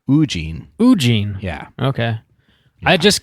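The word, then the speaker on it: Woo-jin: like The Mastermind mhm o Jean so like Eugene but instead of you it's oo ugene ugene yeah okay I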